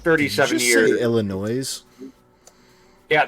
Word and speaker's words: Illinois: life like 37 years Illinois yeah there's an s on the end I don't give a there that is a silent s thank you very much